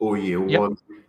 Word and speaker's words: Oyewole: I know I mispronounced that, so could you please pronounce it properly first? Thank you. It's Yep, Oyewole.